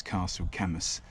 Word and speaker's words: Caisteal Chamuis: it but you know they give you no indication of how to actually say it properly um but um the anglicized version is castle camus so we'll go with